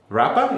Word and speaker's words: Rapa: I'm very pleased to have Rapa. Is that how you say it? Yeah. Because I feel like it's a Rapa. No, really. No, it's a Rapa. Quite simple.